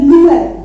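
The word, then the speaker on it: Noël: तो नोएल इसको मिला के पढ़ेंगे, बट अगर ट्रेमा लगा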